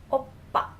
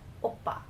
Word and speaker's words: 오빠: Even though when you write it down in English, in romanization, it uses P, but when you're pronouncing it, it has more of a oppa, oppa.